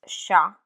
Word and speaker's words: chat: For example, cat, which is chat in French, is taught using the English script SHA, and I've designed this to make learning pronunciation easy.